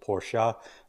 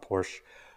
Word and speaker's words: Porsche: manual Porsche service manual sorry two syllables Porsche not Porsche um and yeah you